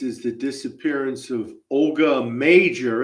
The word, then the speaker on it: Mauger: The Disappearance of Olga major it looks like malar but it's pronounced major and I got that